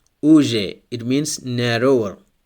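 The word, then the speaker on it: уже: Here we have the stress on the first U. Next word, uje. Uje, it means already. Here the stress is on A at the end. So the stress changes and the meaning also changes.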